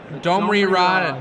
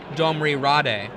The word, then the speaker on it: Domri Rade: Domri Rod. Yeah. Or if you prefer the incorrect pronunciation according to Wizards of the Coast, it is not correct to say Domri Rade.